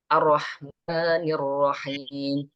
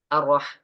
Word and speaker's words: الرحمن الرحيم: Ar-Rahmanir Rahim. Nah, itu kadang tergesa-gesa itu bacanya. Ar-Rah. Salah.